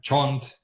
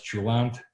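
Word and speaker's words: cholent: We had Jewish dishes like kishka and chont, and which some people pronounce chulant, and knishes, and it was wonderful.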